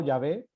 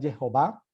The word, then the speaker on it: Jehová: Pronuncio Sí, Jehová, se podría pronunciar Jehová o Yahvé. sí. Creo que la pronunciación más adecuada es Jehová, más que Yahvé o más que Jehová.